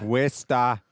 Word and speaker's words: Worcester: Worcester. Wista. Where do all those syllables go?